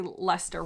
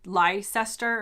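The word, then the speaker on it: Leicester: say it wrong now how would you say lester wrong like li lie sester or something but i've been here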